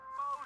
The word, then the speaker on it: faux: 6 carat faux sapphire. Faux is a French word. It's got an X in it, but you don't even pronounce the X.